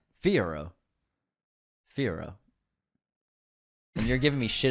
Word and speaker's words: Fiyero: He was Fior. I keep saying this guy's name wrong. Fiyero.